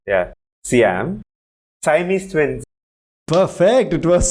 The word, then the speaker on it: Siam: How's it pronounced? Siam, right?